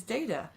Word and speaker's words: Data: And the way that she, like, and he's like, it is Data.